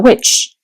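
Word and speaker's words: wicce: It's a memoir about being a witch. And she says, "The term comes from the old English word we w pronounced witch, a wise woman.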